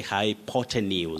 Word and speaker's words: hypotenuse: e hypotenuse is that correct yes you say hypotenuse all right hypotenuse that is in geometry in